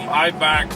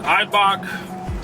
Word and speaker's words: Eibach: I mean, we're planning on lowering this Durango, of course, tinning it up, lowering it on some Eibach, I think you pronounce it, Eibach special edition springs made just for the Trackhawks and Durangos, Durango Hellcats.